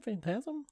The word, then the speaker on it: Phantasm: Phantasm?